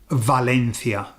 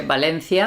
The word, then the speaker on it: Valencia: is the actual sound the V leans to the B sound so you don't tend to get somebody saying they don't say Valena here no no we say Valencia Valencia yes so it sounds like it's with a B so lots of Spanish